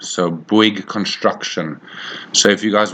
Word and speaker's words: Bouygues: So the first one is a company called Bouygues. So Bouygues Construction. So if you guys want to just go and Google Bouygues Construction, it is spelled Bouyges.